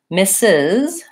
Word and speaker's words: Mrs.: say Z more often misses is like Miss with an S and an added syllable with a Z mrs. first syllable stress and mr.